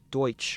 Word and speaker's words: Deutsch: The term is a mispronunciation of the German word for German, Deutsch, or in the Amish dialect of the language called Pennsylvania German, Deutsch.